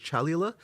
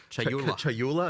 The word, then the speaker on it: Chayula: So the acolyte of, and I always get this name wrong. The acolyte of is it Chalula? Chayula.